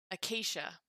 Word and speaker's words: acacia: akasha looks like and i don't even know in english if we pronounce it akakia or kasha but i would guess we pronounce it akasha english i'm looking it